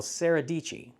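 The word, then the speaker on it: Sara Dietschy: pretty famous as well sarahi Sarah dii rhymes with pachy so John Hill and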